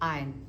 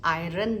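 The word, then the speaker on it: iron: सबसे इंपॉर्टेंट है कि हमने आयरन नहीं बोलना इसमें आर का साउंड र जो है वो साइलेंट है तो हम क्या बोलेंगे आयन क्या बोलेंगे आयन तो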